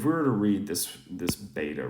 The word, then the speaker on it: βήτα: Now the pronunciation in modern Greek is different than if you're reading in New Testament Greek, so Koine Greek. So it's more of a V sound.